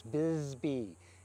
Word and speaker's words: Bisbee: I'm gonna call that Bisbee every time, and it's Bisbee.